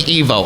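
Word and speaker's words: Ivo: his first name and it's specifically Evo it is very specifically Evo a lot of people even the movies get that wrong but Dean Sittin originally intended it to be Evo pronounced like evil you can hear Mike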